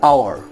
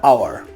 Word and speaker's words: hour: An hour. Here H is silent. An honest or honorable man. I'll just show you over here. Just have a look at this. An hour.